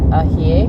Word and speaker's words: añejo: Jerry: Añejo... Mom: Añejo *trying to match Jerry's pronounciation* Jerry: Añejo is aged tequila.